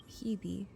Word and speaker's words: Hebe: Hebe.